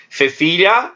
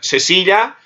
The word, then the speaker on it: Cecilia: Cecilia, interdental, Espanha. Cecília, sem interdental, na América.